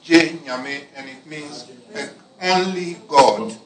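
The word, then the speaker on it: Gye Nyame: It's pronounced Genyame, and it means only God.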